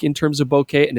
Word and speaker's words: bokeh: Yeah, I say bokeh. I mean, it's technically a Japanese term.